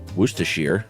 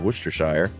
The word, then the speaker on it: Worcestershire: Shire like wire but when used as a suffix it's uh it rhymes with beer so Oxfordshire Worcestershire obviously instead of Worcestershire or leicestershire I say